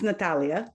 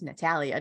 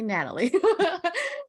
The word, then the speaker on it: Natalia: It's Natalia, but I am great. Oh, it's Natalie. I had a feeling I was saying it wrong, but thank It's you. okay because that's how it's spelled. So that's what most people do. But yes. Gotcha. Okay, everyone, it's Natalia. Don't say Natalie.